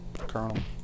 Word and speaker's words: Colonel: must be the colonel the kennel colel it's spelled Colonel but